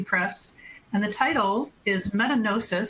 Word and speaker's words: metagnosis: and the title is metanosis spelled m-e-t-a-g-n-o-s-i-s so it's like diagnosis but metanosis and we can have extensive debates on whether the G should be soft or hard but it's a the